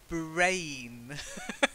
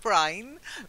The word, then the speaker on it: brain: Brain. Not brine, brain.